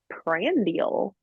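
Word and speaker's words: prandial: that just means two hours after you eat pral yeah the term was pral you never heard of that nope oh okay spell it spell it for me um okay I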